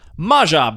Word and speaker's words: Maja: How do you pronounce this card? Maja, Bredegard Protector.